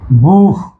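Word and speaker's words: vous: যেমন বুহ, বুহ আমরা কিন্তু বুঝ বলি না, বুহ, বু, বু, এই যে বুহ, আপনি বা আপনারা।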